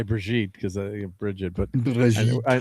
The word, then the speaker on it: Bridget: Yeah, we have a good family friend and her name is You can't say Bridget. It's Breijit.